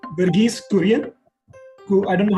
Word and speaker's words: Verghese Kurian: Verghese Kurian, who I don't know how to pronounce her last name. It is absolutely the correct pronunciation, and it is Verghese Kurian.